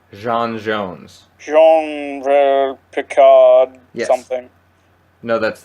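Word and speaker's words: J'onn J'onzz: Because it's not John Jones. It's Jean Jones.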